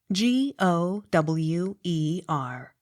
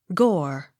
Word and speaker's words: Gower: u g h golf g o w e r gore but gower as regards the street of that name with the general public